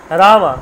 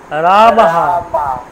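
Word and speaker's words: রামঃ: রামা, কি করে উচ্চারণ করবেন? রামা, নট রামো, রামাহা, হ্যাঁ উচ্চারণ করুন রামা, হ্যাঁ।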